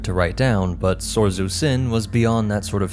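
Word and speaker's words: Syn: our bidding of course her name is spelled different but still pronounced as Sin in the left-handed path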